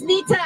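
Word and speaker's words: Neeta: name you would like yeah my name is Nita and I'm with the Asian Americans United in Philadelphia how do you spell that n-e-e-t-a thank you so much Nita thank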